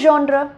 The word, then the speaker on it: genre: ஸோ அதுக்கு வந்து GENRE அப்படின்னு வந்து சொல்லுவாங்க. இது வந்து ஜான்ற அப்படின்னு ப்ரொனவுன்ஸ் பண்ணணுமா, ஜான்ற.